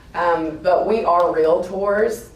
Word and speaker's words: Realtors: we are real tours it is a two syllable word and um I hear so much thank you and it you know it drives me crazy when I hear R and um you know it kind of makes me wonder sometimes like do you know what you are I mean just it's just two syllables real tour so anyway let's all